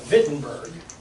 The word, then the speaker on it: Wittenberg: And he's in a town in Germany called Wittenberg. It's actually spelled with a W, but it's pronounced with like a V. He goes to a church in Wittenberg, Germany.